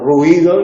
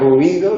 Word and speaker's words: ruido: Ciudad, viuda, cuidar, ruido, el otro día decimos ruido, se puede pronunciar ruido, se puede pronunciar ruido.